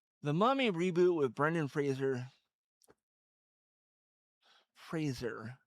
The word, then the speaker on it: Fraser: And it's Fraser, like razor with an F at the beginning. Uh Not Frasier, like the TV show.